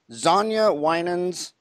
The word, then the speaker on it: Xaña Winans: ready to share our secrets join GPM president Sonia Winans did I say it right you did have